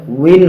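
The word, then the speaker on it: وٍ: ওয়ার নিচে এরকম দুই জের থাকলে ওয়াও দুই জের উইন হবে, ইন হবে না। অনেকে ইন পড়ে, উইন উচ্চারণ করতে হবে।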